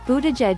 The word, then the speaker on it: Buttigieg: and a veteran of the war in Afghanistan boo de jedge spent eight years in office in South Bend